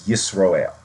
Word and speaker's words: Israel: people in the media, it's not pronounced Israel, it's Israel, I-S-R, Ale, A-E-L, not E-A-L. It is real, it is a real country, but the pronunciation is Israel. The Hebrew pronunciation is Yisroel, and that's the same thing in Hebrew.